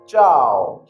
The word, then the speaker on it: ciao: pronunciation हम देखते इसकी करेक्ट प्रनंसीएशन आफ कि चाव हां याद रहे किसी को कहने देना चारों